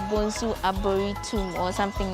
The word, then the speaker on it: Arboretum: I know it's called Bonsu Eco Park, and it's also called Bonsu Arboretum or something like that. Am I pronouncing it well? Yeah, it's Arboretum.